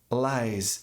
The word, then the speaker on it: lies: vamos traduzir como mentiras laises lies SS também tem som de z faz parte da mesma regra mas se você pronunciar com som de s láis você vai estar dizendo piolhos diferente né mas mentiras